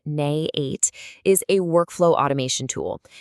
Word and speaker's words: n8n: Okay, so at its core, N8, which by the way is pronounced Nay8, is a workflow automation tool.